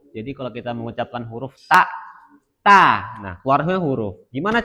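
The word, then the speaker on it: ت: Berarti ta lidahnya menempel pada gigi dari atas. T. Nah. Nah, bagaimana makhraj huruf ta? Lidah menempel pada ee belakang gigi seri atas.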